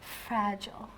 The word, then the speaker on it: fragile: they think I'm very fragile. Fragile. Oh, that sounds so nice, Teresa. But we would usually say fragile. Fragile? So we put a bit more stress on the second part, fragile.